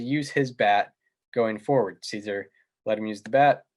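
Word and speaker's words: Szczur: teammate and matt caesar am i pronouncing it correctly it's caesar matt caesar uh was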